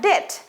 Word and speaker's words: debt: DEBT, বি কিন্তু উচ্চারণ হবে না। ডেট, ডেট হচ্ছে ঋণ।